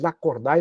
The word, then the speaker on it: Lacordaire: nome lacordaire escreve la cordar e pronuncia lacord Eu me recordo quando